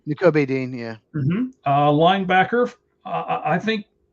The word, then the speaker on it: Nakobe: Nakobe Dean, I think Nakobe is how you say his first right? N'Kobe Dean, yeah.